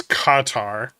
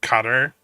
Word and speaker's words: Qatar: The proper pronunciation actually is it's Qatar, but I think as Americans we just say cutter.